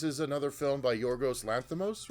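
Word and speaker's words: Lanthimos: And I will say going into this, uh, this is another film by Yorgos Lanos, right? That's how you say it. Yorgos Lanimos.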